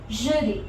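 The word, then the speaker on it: jeudi: Thursday का है जुदी, okay, Z sound वाला।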